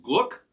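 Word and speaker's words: glögg: heard a call for some gluck which is spelled glog somebody was asking buck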